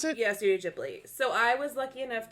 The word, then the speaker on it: Studio Ghibli: Is that how you pronounce it? Yeah, Studio Ghibli.